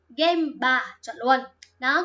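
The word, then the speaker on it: 現場: Đó, cái chữ này thì lẽ ra trong nhiều phần có thể đọc là jo các thứ chẳng hạn ấy, có nhiều cách đọc đúng không? Nhưng đi với hiện trường nó đọc là game bar.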